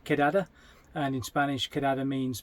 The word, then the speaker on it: KDD: what they call a we'd say KDD but it actually is pronounced kadada and in Spanish kada means basically a big meetup.